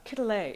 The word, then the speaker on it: Quetelet: And so, how many had ever heard of Adolphe Quetelet is actually how you pronounce it?